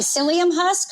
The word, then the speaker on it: psyllium: So, I bought some uh how do you pronounce it? Sylleum Sylum Husks. Uh, so it's like, oh, like psyllium husk or psyllium husk.